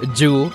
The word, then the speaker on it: Ju: I mean, Rhett has learned Ju as the first syllable of my name. Actually, it's Ju.